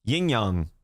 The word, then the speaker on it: yin yang: Yin Yang. Like, I know it's pronounced Yin Yang, but I still say Yin Yang.